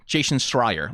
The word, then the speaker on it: Jason Schreier: Jason Schreier.